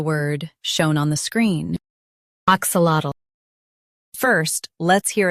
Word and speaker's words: axolotl: Stress ak and say lat clearly. The ul is soft. AXOLOTL. AXOLOTL.